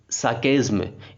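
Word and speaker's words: sarcasm: इसका सिनोनिम है irony and साकेज्म। इसका जो आर है इसको हम प्रोनाउंस नहीं करते हैं, इसको बोलते हैं साकेज्म, साकेज्म, ठीक है।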